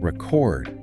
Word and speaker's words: record: Record. Wow. Same spelling, different stress, different meaning. Exactly. So misplacing the stress can make a word sound unfamiliar or even lead to confusion about what you mean.